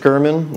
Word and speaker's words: German: media and just pull up my name Gurman you can find me on Facebook and Instagram